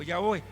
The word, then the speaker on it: Yahvé: La pronunciación de este término, ahora vamos a decir en nuestro lenguaje, sonaría como Yahvé. Algunos le llaman Yahvé o Yahweh.